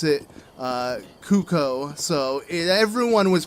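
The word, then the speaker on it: Cucco: Like, just pretty much research on how I should pronounce cuckoo, because I was calling it cuckoo, since that's how most people pronounce it.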